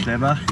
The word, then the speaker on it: Schlebach: Am I pronouncing it correctly? Schlebach, it's good, Schlebach.